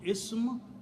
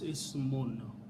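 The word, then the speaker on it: اسم: When I stop, I can pronounce Ism, but if I don't stop, this full word is Ismun, which means name.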